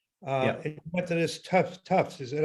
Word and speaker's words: Tufts: And you went to this Tufts. Is that how you pronounce it? Tufts, yes.